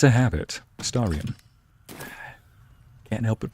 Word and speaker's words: Astarion: Somebody made fun of me last time for saying Astarion with like an O. It's a habit. Astarion.